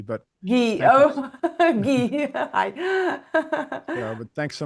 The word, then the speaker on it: Gui: Hi, welcome Guy. Well, thank you very much for having me on. Actually, my my it's it's pronounced Gee, but Gee.